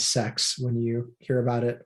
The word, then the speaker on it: CeX: game stop and yes they do pronounce it as sex when you hear about